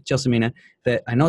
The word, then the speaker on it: Gelsomina: It's Gelsomina, soft G.